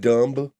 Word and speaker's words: dumb: And there's a B in there. You can't hide it from me. It's pronounced dumb.